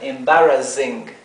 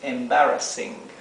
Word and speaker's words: embarrassing: es vergonzoso fíjense que tenemos acá una doble s Sí por eso es que se pronuncia s Con la s suave porque si no si